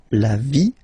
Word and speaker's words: vie: And then when they're ending with ie, like here, okay, so basically you don't pronounce the okay, so it will be only the sound i, okay. For instance, la vie, life, okay, la partie,